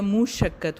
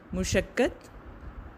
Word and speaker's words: مشقت: پیش ہوتی ہے۔ مشقت، میم پر پیش ہوتی ہے، مشقت ہوتا ہے، مشقت۔ درگزر، زیادتی، منڈلانے۔ تو